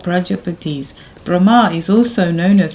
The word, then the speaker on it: Prajapati: The Praja is long A, so that means Prajapati, not Praja. It's not Praja, it's Praja. Pati.